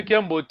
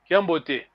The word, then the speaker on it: Kiambote: When I say Kiambote, it's fast. Yes, there's no pause. Kiambote.